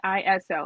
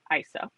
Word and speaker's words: ISO: like an acronym and most people would say ISO and I did for years but after watching many videos and controversies it is pronounced ISO so what is it it is a numerical